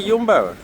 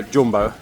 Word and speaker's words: Jumbo: And then you're here at Yumbbo or Jumbo as Brits would call it, Jumbo, but I do believe it's pronounced Yumbo.